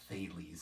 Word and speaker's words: Thales: in the ancient Mediterranean region that was named Thales. We we pronounce it Thales if you want to look it up.